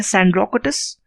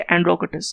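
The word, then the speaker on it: Sandrocottus: तो in Greek इनको 2 नाम से जाना जाता है, एक है सैंड्रोकोटस, और एस को साइलेंट कर दीजिए, एंड्रोकोटस।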